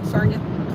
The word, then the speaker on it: Sarnia: Is kind of the halfway point in between London and Sarna. Yeah, Sarna rhymes with Narnia.